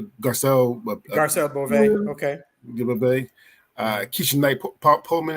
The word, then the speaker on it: Garcelle Beauvais: Garcelle Beauvais.